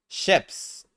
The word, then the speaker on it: shifts: Although the letter T is in the spelling. Letter T is in the spelling. The words Christmas and shifts follow the rule of three. Follow the rule of three. Follow the rule of three. When three or more consonants are next to each other, between vowels or after a vowel between vowels and after of a vowel, the middle consonant is often dropped.